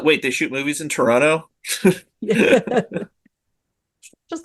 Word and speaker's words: Toronto: But no, like everybody who was clearly not from Toronto was saying it wrong, right? Was like, "Oh no. Oh no. Do not There's no second tea, guys.